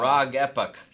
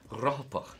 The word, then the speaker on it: Rohopoch: Because Rohopoch wrote into us and said this is how, because I was saying like Rog Epoch or something like that, but it's Rohopoch.